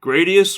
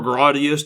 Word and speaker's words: Gradius: the stage one theme gradius or gradius depending on how you want to pronounce it is one of the